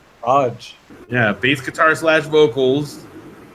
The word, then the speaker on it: Lodge: how about John Lodge l-o-d-g-e as in like Mario says maybe it's pronounced Great Britain wait so what's this guy John Lodge as in a hotel you stay in Lodge Lodge yeah bass guitar slash